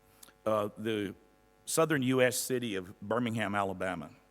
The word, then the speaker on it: Birmingham: city of Birmingham, Alabama. Birmingham is the way they pronounce it in Alabama, not Birmingham the way our British cousins would pronounce it, or maybe you guys would here.